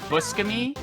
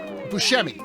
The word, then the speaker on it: Buscemi: conversations like this I think it's Steve like buskamy yeah yeah everyone in the world in like